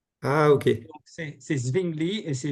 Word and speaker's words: Zwingli: Le W se prononce V en allemand. Ah, ok. Donc, c'est Zwingli et c'est Wittenberg.